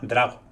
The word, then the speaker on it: Drago: Drago con el acento en la A. Drago. Proyecto Drago. Drago. Ah, vale, claro, no es Drago. Claro. Drago, vale. Pues Proyecto Drago.